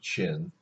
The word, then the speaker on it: Qing: Now, this says Qin. I know it doesn't look like it says Qin, but it does. Okay, sometimes it's spelled like CH apostrophe ING. If that helps you pronounce it, you can spell it that way, but on the AP test it's usually spelled this way.